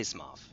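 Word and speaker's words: Smough: It's Smoff. Yeah, well, I say Smoff.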